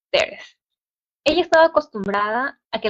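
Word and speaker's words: Thérèse: Pronunciaba su nombre la francesa Teres.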